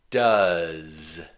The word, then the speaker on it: does: The letters OE are pronounced does, does.